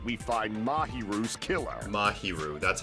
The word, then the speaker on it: Mahiru: by whether or not we find mahiru's killer mahiru that's how you say her name Maho nevertheless